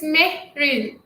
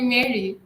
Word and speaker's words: Marie: your name correctly oh my name is marie marie i always say they called me mary i apologize that's what